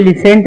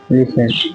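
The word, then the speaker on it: listen: बताता हूं आपको लिसन अब इसे लिसेंट नहीं पढ़ेंगे क्या पढ़ेंगे अब इसे हम लिसन लिसन अब देखिए अब हमने यहां पे लिखा लिसन अब हम इसे लिसन पढ़ते हैं क्या पढ़ रहे हैं हम इसे लिसन अब हम इसे लिसेंट नहीं पढ़ते अब हम क्या इसे इसे क्या नहीं पढ़ते? लिसेंट नहीं पढ़ते हैं। हम पढ़ते हैं लिसन।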